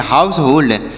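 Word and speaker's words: household: ड के रूप में तो इसे पढ़ेंगे हाउसहोल्ड क्या पढ़ा जाएगा प्यारे बच्चों हाउस होल्ड इसे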